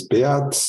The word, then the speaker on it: Beat: My name is Beat. It's spelled beat, but I'm not beating.